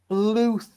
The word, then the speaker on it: Bluth: pronounced Bluth. So where? So who's Okay, so Don you want Bluth?